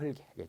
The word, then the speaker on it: 흙이: 변호한테 엄청 강조하는 거거든요 닭이 닭을 달게 흙이 흙을 흘기 자음조사가 오면 앞에 자음분 단순화가 먼저 이루어져서 닭 흙 이렇게 된 다음에 뒤에 된 소리가 나더라라는 거고요 자 이번도 실제